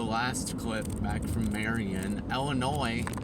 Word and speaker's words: Illinois: And yeah, I'm sure you guys saw the last clip back from Marian Illinois. What's silent in Illinois? There's a silent s at the end.